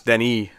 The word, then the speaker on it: Denis: That even Dennis was wrong. It's Denis.